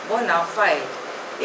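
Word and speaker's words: bona fide: become अ good dancer next word is बोनाफाइड spelling is बी ओ एन ए एफ आई डी E pronunciation is बोनाफाइड इट इज अ Latin word it means in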